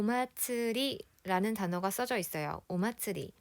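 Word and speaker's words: 祭り: 5 마쯔리 라고 하구요 여기에 지금 마쓰리 라고 써져 있지만 이건 항구가 표기법 쌍의 문제인거 고 원래 정확한 발음은 마츠리 가 됩니다 아츠 라는 점을 기억하세요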